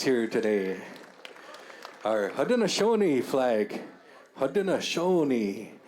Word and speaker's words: Haudenosaunee: Haudenosaunee is the pronunciation of that. I will say that because I am Haudenosaunee.